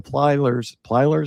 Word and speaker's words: Plyler: boat crash and the 392 case and the Plylers, is I'm pronouncing it right?